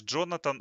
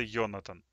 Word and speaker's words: Jonathan: Ну, знаешь, Джонатан, он в Америке, а в Германии это Йонатан. Если что. В Германии именно так читается это имя, и здесь оно очень популярно.